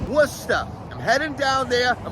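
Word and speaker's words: Worcester: an i bottom one it is not Worchester it is wora w o s t a h wora I'm heading down there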